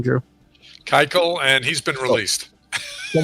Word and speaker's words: Keuchel: I'm sorry, I know I said his name wrong. How do you say his name, Drew? Keuchel, and he's been released.